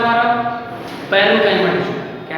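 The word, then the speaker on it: parenchyma: जैसे पेरेंट होता है ना, पेरेंट, उसमें टी हटा देना, पैरेन्काइमा, C-H-Y-M।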